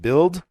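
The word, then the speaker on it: Bild: the best-selling German newspaper I believe it's pronounced build he authored a barn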